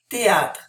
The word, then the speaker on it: théâtre: Numéro 7, théâtre. The TH, it's just like a regular T, okay? Le théâtre.